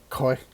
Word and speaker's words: Khoi: i said from koi barbecue which is actually koi koi barbecue it's k-h-o-i barbecue koi meaning smoke in